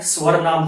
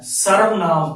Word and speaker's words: सर्वनाम: सर्वनाम, यदि हम इस शब्द के टुकड़े करें, सर्वनाम, बच्चे कभी कभी इसका जो है भूलवश गलत उच्चारण कर देते हैं, स्वर नाम बोल देते हैं। स्वर नाम, ये स्वर नाम नहीं है, सर्वनाम।